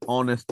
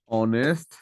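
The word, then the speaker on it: honest: আপনি বলেন না ইজঅান অনেস্ট ম্যান অনেস্ট ম্যান এই যে এইচ এর উচ্চারণ উজ্য থেকে এটার উচ্চারণটা কেমন হয়েছে ও দিয়ে হয়েছে না উচ্চারণটা কি শুনতে ও এর মত লেগেছে না অনেস্ট ম্যান ও এর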